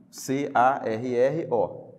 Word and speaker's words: carro: C-A-R-R-O, carro. Agora, observe que quando você pronuncia essa palavra, você não ouve o som desses dois R's, certo?